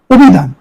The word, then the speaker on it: অভিধান: খেয়াল করো অধ্যাপক হসন্ত এরপরে অভিধান রসিককার ইকারান্ত শব্দের কারণে এখানে অকার ওকার উচ্চারণ হবে অভিধান অভিধান ইত্যাদি খেয়াল কর ইত্যাদি